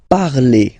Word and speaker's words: parlez: Let's see now for vous, vous parlez, okay? Remember, a z, when you combine them together, you get the sound e.